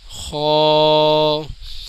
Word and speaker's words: خ: سے پڑھا جاتا ہے۔ خا، خا ناظرین، یہ بلو کلر کا جو حروف آپ کو دکھ رہا ہے یہ خا، اس کے اوپر ایک نقطہ ہوتا ہے اور یہ پر یعنی موٹا پڑھا جاتا ہے۔ دال، دال کا